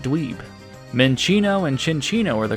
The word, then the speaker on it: Minccino: Minccino and Cinccino are the correct way to pronounce these Pokémon, not Minccino or Cinccino, which I should have realized.